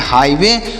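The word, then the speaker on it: highway: मतलब होता है स्वयं एच आई जी एच डब्लू ए वाई तो एच आई से पढ़ेंगे हाई एच आई से हाई पढ़ा जाएगा जी एस साइलेंट है और डब्लू ए वाई तो डब्लू से पढ़ेंगे व डब्लू ए वाई से पढ़ेंगे वे तो इसे पढ़ेंगे हाईवे और हाईवे का मतलब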